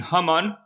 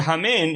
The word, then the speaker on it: Haman: Haman is did you from, I guess, right? Hamin ha'etz. But the word Hamin, if you pronounce it differently, is Haman, right?